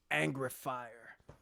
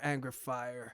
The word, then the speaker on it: Angreifer: the next song is angrifier i'm pretty sure that's how you pronounce that in any case i